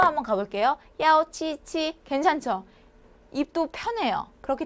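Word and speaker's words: 幺: 이치치 힘들죠 힘들다라는 거예요 헷갈린다는 거죠 그래서 야로 발음합니다 자 야오 한번가 볼게요 야오 치치 괜찮죠 입도 편해요 그렇기 때문에 1은 전화번호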